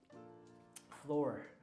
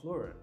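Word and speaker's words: fleur: Like floor, like the flower, floor. Floral. But it's spelled F-L-A-U-R. F-L-A-U-R. You know? Oh, are you saying like a Spanish flower? Like like French or Spanish. Oh, fluor. Floor. There you go. That's floor. F-L-E-U-R, I think.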